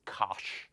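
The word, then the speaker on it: cosh: for hyperbolic so hyperbolic cosine and usually we pronounce this Kos um and similarly for the hyperbolic sign we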